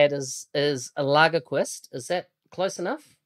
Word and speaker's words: Lagerquist: Lagerquist. Lager. It's like drinking a lager with a quist on the end of it. Yeah, kind of. But you pronounce the letters more, like Lagerquist.